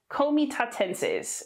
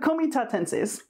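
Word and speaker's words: Comitatenses: on the screen too komi tatenses is how you pronounce that uh in latin all the c's are hard you don't have it like you don't say nice you that would be pronounced nikkei which fortunately we don't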